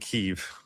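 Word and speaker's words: Kyiv: government personnel through USAID in Kiev, or I think they pronounce it Kiev, reportedly developed a plan that you want to hear more specifics about the plan.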